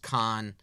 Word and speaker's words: Cannes: I'm pretty sure it's pronounced Cannes. He might say Can.